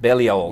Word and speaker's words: Balliol: Is that how you pronounce Balliol. it? Balliol, yeah.